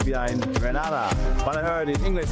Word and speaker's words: Grenada: Say it right. It's Grenada. It's not Grenada. It's Grenada. Say it right.